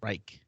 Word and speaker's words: Reich: their head coach Frank Reich. Reich. Yeah, Reich. It's like not a good thing to compare it to, but it's like the Third Reich. It's just pronounced like that.